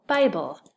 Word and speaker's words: Bible: This is an open syllable, so it's a long I. B-I, bull, by, bull, Bible. How about this one?